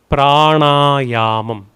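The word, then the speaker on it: प्राण: Both together would be pranaum. The n is with the dot below. So rolling your tongue up retroflex. Na prana.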